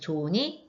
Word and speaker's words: 좋은: 걸 히읗 탈락이라고 해요 그래서 조은이 좋은이라고 발음이 되죠 네 번째로는 으탈락이 있어요